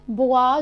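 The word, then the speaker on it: boit: هنا عندي الفونيتيك الاو والاي اللي هما بيتنطقوا وا. يبقى فاندردي فاندردي فاندردي أليس بوا دو جو.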